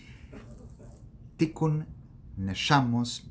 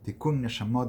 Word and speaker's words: Tikkun Neshamos: Tikkun Neshamos Bibirkas Mechayem Meisim. En pronunciación sefaradí, Tikkun Neshamot Bibirkat Mechayem Metim.